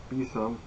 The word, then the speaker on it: besom: And the witch's broom bosom, pronounced besom, we don't fly in brooms.